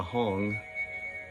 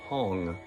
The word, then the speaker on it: HUNG: The Om radiating white, the Ah red, and the Hong in the heart chakra is a blue Hong, H-U-N-G.